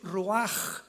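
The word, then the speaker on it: רוח: La palabra para espíritu en el hebreo es la palabra que es roaj, que se escribe ru con ch, pero repito, ese pronuncio pronuncia como J. Roaj.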